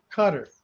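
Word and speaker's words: Qatar: it one of those countries it's kind of cutters yeah it's encounter yeah Park cutter whatever it's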